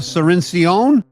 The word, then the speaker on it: Cirincion: With me is my distinguished guest Gina Serene Ceon. How do Is that good pronunciation?